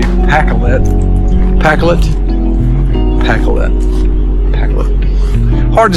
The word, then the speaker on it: Pacolet: That I believe that I know the correct way to say PAK-let.